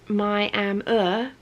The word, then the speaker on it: Miami: Caroline says Miami is in Florida, and then Miami is pronounced my-am-er is in Texas, way up in the top